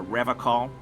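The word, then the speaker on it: Revachol: to stay strong for rev call he pronounces Revol with a hard K unlike other people I like to pronounce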